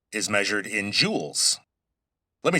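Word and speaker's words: joule: Now, E is measured in jewels. Let me spell that because it sounds like J E W E L S, but it's based on an old scientist's name.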